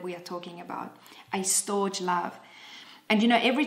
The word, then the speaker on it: storge: And so storge love, I'm going to spell that for you, S-T-O-R-G-E, is a Greek term.